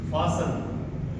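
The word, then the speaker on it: fasten: या टी एल ई अगर ये ग्रुप हमें देखने को मिलता है किसी शब्द के अंत में तो टी हमारा इसमें क्या रहता है? साइलेंट रहता है। इसके एग्जांपल देखिए। एल आई एस टी इ एन लिसन एफ ए एस टी ई एन फासन इसमें टी हमारा क्या रहेगा? साइलेंट रहेगा।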